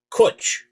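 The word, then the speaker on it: cwtch: c h it's pronounced kuch think the think the name butch there is a fire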